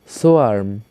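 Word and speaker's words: swarm: সোয়ার্ম ঝাক। এখানে আর এর উচ্চারণ একেবারে অল্প হবে। তাই আমরা উচ্চারণটি এভাবে করব। সোয়ারম।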